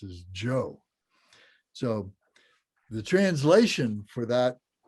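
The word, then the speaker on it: bhyoḥ: Now I know it says B-O, B-H-Y-O-H in that second line, but it's actually pronounced Jo.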